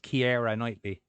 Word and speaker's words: Keira Knightley: Or if you're wanting to So- pronounce it the way it's spelled, Keira Knightley.